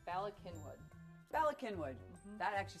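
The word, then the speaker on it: Bala Cynwyd: c yny y or WYD it's Bak kinwood balwood balwood balwood balwood bwood Bas welcome to balwood it's Bal kinwood Bal kinwood that actually sounds a lot better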